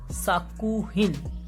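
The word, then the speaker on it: 作品: So if we are writing these together, these would be pronounced as sakuhin, which means a piece of work.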